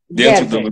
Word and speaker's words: Gerber: Gerber se escreve, mas Gerber se fala, minha origem é alemã, Gerber.